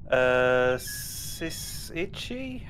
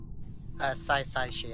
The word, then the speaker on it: Saisaichi: Sisichi? How do you say your name? Saisaichi, actually. The first Sai Sa- for aesthetic.